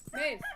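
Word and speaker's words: Medb: Mab. Oh. M-E-D-B. Help me out, Oz. Maeve. Maeve.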